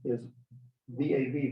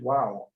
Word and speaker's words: Vav: So for example, the letter Vav is pronounced like a V by some people and as a W by others. So that Vav is V-A-V, Vav, and others it's wow, W-A-W.